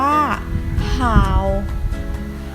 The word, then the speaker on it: 好: ไป คำ ที่ สอง คำ ที่ 2 อ่าน ว่า ห่าว ห่าว ห่าว แปล ว่า ว่า ดี